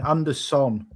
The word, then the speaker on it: Anderson: Elliot Andersen is SON, Anderson. Joachim Andersen is Andersen. You know this because the Sen is a Scandinavian pronunciation and he's from Scandinavia.